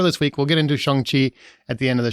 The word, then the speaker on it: Shang-Chi: It's actually like Sean with a G at the end. Chi. Shang-Chi.